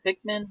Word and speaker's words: Pikmin: Is it Pikmin?